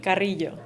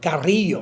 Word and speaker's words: Carrillo: Today I have with me Victoria Carrillo. Am I pronouncing that right? Carrillo. Carrillo. Victoria Carrillo. That's another thing you have to learn about Mexico is the Rolling R's.